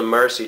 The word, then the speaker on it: Mursi: This came from the Mursi Tribe over in southern Ethiopia, which look them up on either like Google or YouTube.